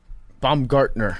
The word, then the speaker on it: Baumgartner: We got Brian Bombgunner. Did they say it right at that time? Bombgartner.